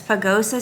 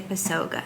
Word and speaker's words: Pagosa Springs: going to let me look because i always pronounce it wrong is it pagosa it's pagosa springs i always want to say pesoga that's pagosa springs and we're going to be